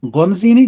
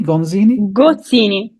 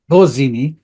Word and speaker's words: Gozzini: So Gonzini. Gozzini. Gozzini.